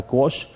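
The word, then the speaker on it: quash: तो यहाँ पे एक वर्ड है क्वॉश, इसका प्रोनाउंसिएशन होता है क्वॉश, और इसका मतलब होता है रिपील, या फिर इसका मतलब होता है रेसिंड।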